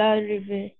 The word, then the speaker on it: arrive: Elle arrive. Oui. E final, pas prononcé.